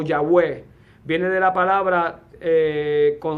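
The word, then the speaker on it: Yahweh: área B Jehová o yahwe viene de la palabra eh eh constituida con cuatro letras el tetragramatón eh que que se pronuncia se pronuncia hoy en día como yahwe verdad del hebreo eh Cuál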